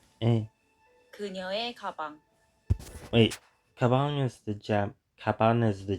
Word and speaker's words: 그녀의: and when it's used as a possession particle, it's pronounced as 에. Eh. 그녀의 가방.